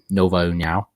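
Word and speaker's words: Nova União: If you knockouts recently, BJJ black belt, fighting out of the same gym as Jose Aldo, Nova Uniao. Right? I said that right? Yeah, we got some good pronunciation going.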